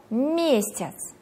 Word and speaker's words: месяц: Следующее слово «месяц». Ударение падает на первый слог в слабой позиции.